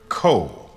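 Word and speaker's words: ko: daughter in tow he would say to her co as if it was spelled k.o a single syllable and the little girl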